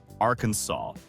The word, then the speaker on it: Arkansas: senators, declares that the only acceptable pronunciation is Arkansas, and that any other variation is strictly forbidden.